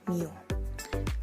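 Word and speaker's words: μ: new merupakan rata-rata populasi di dalam huruf kecil Yunani dibacanya new n merupakan jumlah nilai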